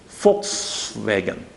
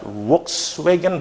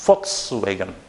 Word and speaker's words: Volkswagen: It's going to sound like this. Volkswagen. Okay, this is the pronunciation. It's not Volkswagen, but it's Volkswagen.